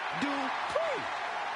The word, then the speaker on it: Dupree: Michael, it's pronounced Dupree.